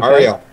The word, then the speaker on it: Aurielle: got Frank Stearns here from Aurielle, did I pronounce it right? Aurielle Vineyards? Okay. Aurielle.